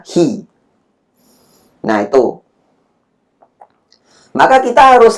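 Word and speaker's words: 日: Bisa dibaca jitsu, bisa dibaca nici, bisa dibaca ka, bisa dibaca hi.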